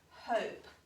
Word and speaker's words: hope: h o p e now this one has um an e at the end and we can call him the sneaky e because he doesn't say anything he's just there to